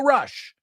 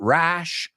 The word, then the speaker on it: rush: Rush, not rash. Rash is sarpullido. This is rush. It's the schwa sound.